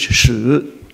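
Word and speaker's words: 史: The word history is shi, as the Chinese pronounce it. Today we call it li shi to make it two sounds, but the original word is shi.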